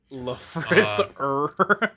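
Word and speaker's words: Lfrith: So, um, actually it's pronounced Lefth.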